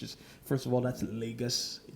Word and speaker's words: Lagos: first of all, that's Lagos. It's pronounced Lagos, not Lagos, for crying out loud. Just listen to a Nigerian say it and say it like that.